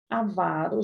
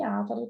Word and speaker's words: avaro: Avaro já foi ávaro também. Mas agora é avaro, a sílaba tônica é o vá.